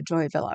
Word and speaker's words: Joy Villa: See, I keep wanting to say via. That's why it's going to come out wrong. Um because I had a two a two continent in my um family. So, I always pronounce it that way, which is um Spanish thing. So, but I think it's it's a joy villa, right?